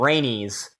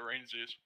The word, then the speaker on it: Rainsies: I don't know how to say that name. Rainy's. It's just there is Rainies. Not a Z in there. There's only a Z at the end. Rainsies. Yeah, that's how you say it, Rainsies.